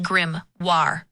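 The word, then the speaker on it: Grimoire: There's Secret Layer Final Fantasy pronounced Grimmoire for me. It's pronounced Grimmoir. The emphasis is on the second syllable.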